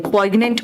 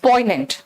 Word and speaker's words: poignant: बेटा एन यहां साइलेंट है, poignant मत बोलना, इट्स poignant।